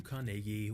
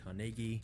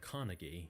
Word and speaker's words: Carnegie: Into abject poverty Andrew carnegi was born in Scotland which is the reason I'm saying carnegi instead of Carnegie because this is how the Scots actually pronounce it but Andrew's start in